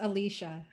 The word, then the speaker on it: Alicia: But the Alicia, I keep saying your name wrong. Alicia. You're Yes? still saying it wrong. It's Alicia. Alicia. I should know better. See, there's a problem. Like I teach school, so I'm always chopping up people's names. It's a weird spelling.